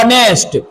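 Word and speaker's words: honest: एस टी इस बेटा एच को स पढ़ते ओ क्या पढ़ते हैं ऑनेस्ट तो इधर क्या हो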